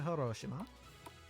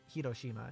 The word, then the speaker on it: Hiroshima: there first back to hiroshima hiroshima i think hiroshima is the uh english pronunciation but hiroshima is definitely how it's pronounced in japanese that's how i uh pronounced